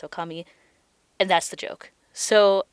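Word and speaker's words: 女将: which is not correct often when you combine kanji together they have certain pronunciations when they're combined in a certain way and in this case it should be pronounced Okami and that's the joke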